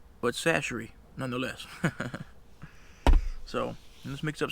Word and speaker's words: Tony Chachere's: If you don't know how to say this, it's Tony Chachere's.